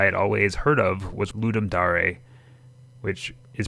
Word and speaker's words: Ludum Dare: popular ones I had always heard of was Ludum Dare which is pronounced Ludum Dare, but for simplicity's sake, I'm just going to call it Ludum Dare from here on out.